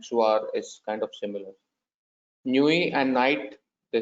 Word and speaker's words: nuit: Nuit and night, they sound similar. It's bonne nuit is good night. Nuit, N-U-I-T is not pronounced, so it's bonne nuit.